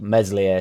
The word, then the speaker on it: Meslier: I am being humorous I know how to say melier but he's called meslier Silent s I'm from leads mate